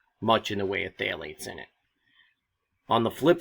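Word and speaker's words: phthalates: Florida Alligator and basically phalates phalates spelled with a p h t h a l a t s those are substances that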